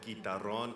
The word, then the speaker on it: guitarrón: It's kind of spelled like guitar and then R-O-N, guitarrón.